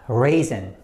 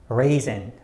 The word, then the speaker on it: raisin: like this one uh raisin raisin raisin and if you look up the dictionary it looks like re and zen raisin raisin another example is